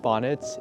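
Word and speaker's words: Bonitz: My name is Bonnets. It's spelled M A R K B O N I TZ.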